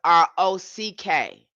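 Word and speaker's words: Roch: His name is Saint Rock name spelled R O C H. R O C H but pronounced R O C K.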